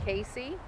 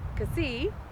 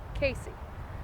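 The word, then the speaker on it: Cayce: lexington county you have casey which it is spelled unlike the way it is pronounced it's c-a-y-c-e it's not cassie it's not uh say c anything like that it is casey um i had to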